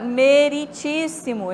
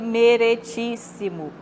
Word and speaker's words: meritíssimo: doe né Oi e a palavra meritíssimo verde meretíssimo é o pronome de tratamento utilizado para Araújo Isis né é meritíssimo e não merere é Meire mortadela em